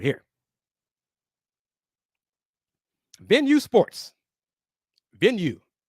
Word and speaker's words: Venu: right here venue Sports venue pronounced like you say venue venue Sports the Innovative